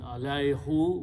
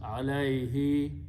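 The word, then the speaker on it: عليه: This is who, but in the qiraat, this who is recited as he to match the sound of this ya. So makharij are close to each other. So instead of pronouncing alayhu, which is not easy to pronounce, to a smooth recitation, this who is recited as he. So it becomes alayhi, to him.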